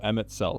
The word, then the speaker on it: Emet-Selch: It's pronounced Selk. Oh, Emet-Selch.